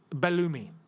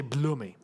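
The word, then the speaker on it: Belloumi: Like the English and how everyone will say it will say Belumi. Yeah, Balumi. In Algeria, we don't say it like that. In Algeria, we say Bloomi.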